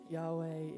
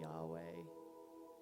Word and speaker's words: Yahweh: that couldn't be uttered only way to describe the way that this word is pronounced this is an out breath and an in breath but gave us this name to call him Yahweh to remind ourselves that